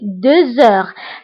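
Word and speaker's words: deux heures: فبالنسبة هنا أيضا غتلاحظوا أنني قلت 2 heures هنا نطقت لا لتر زد مع أنها ما كايناش. pourquoi؟ باسكو عندي اش، باسكو عندي لا لتر اكس كتبعها اش، دونك كندير لا ليزون وكنقرا 2 heures. 2 heures. داكوغ. كنطق لا لتر زد مع أنها ما مكتوباش باسكو درنا لا ليزون.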